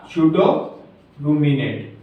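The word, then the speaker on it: pseudo-ruminant: कहा जाता Hadow रूमिनेट क्या शो रूमिनेट आपको मैंने बताया था प साइलेंट होता है ठीक है आवासी रोमती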